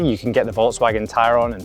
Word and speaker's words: Tayron: And yes, that's right, I pronounced it correctly, Tayron, not Tayron, like you might think.